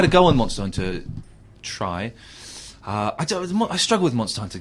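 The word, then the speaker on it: Tri: Tree. No, it's Try. It's Try.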